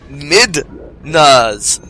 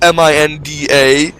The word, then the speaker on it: Midna: is ridiculous like I I honestly thought it was spelled m-i-n-d-a but no it's spelled m-i-d-n-a so it's clearly mid na not Min da anyway I'll I'll try